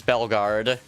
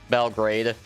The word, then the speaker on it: Belgrade: your capital is Belgard. Like, just B-E-L, then... Wait, Guard... Or is it Grade? It's Grade, isn't it? Not Guard. You dingus. Belgrade.